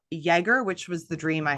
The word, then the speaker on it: Jagger: I said her name and she said, actually, it's Jaeger, which made me laugh. And I did double check the pronunciation this morning.